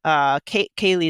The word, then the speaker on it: Kaylee: And, every time you bark, and the dog is Chess or Chesley, your human, Kaylee is how you pronounce it, right? That's right.